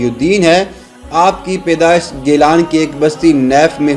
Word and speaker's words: گیلان: ایران میں موجود ہے۔ گیلان کا تلفظ اہل عرب نے جیلان استعمال کیا ہے، اسی نسبت سے آپ جیلانی مشہور ہوئے۔ حضرت عبد القادر جیلانی